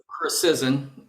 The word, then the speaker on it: Krawsczyn: Chrysizen. Chrysizen. Yeah, you pronounce it just the way it looks.